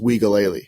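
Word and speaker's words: Uiagalelei: wigaly playing really well i found out it's pronounced wigaly which is weird right wigally leo i'm glad you said that because i was just gonna call him dj yeah dj i think it's wikilea don't don't roast me if it's not but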